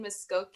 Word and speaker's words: Mvskoke: So you can follow Amber's work at Melanin Muskoke, and Muskoke is spelled Mvskoke.